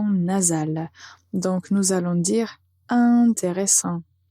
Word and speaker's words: intéressant: est la lettre T, on va prononcer le début de cet adjectif de façon nasale.